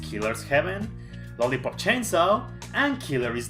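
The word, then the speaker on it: killer7: of his games killer 7 which apparently it's pronounced killer's heaven lollipop chainsaw and killer is death as far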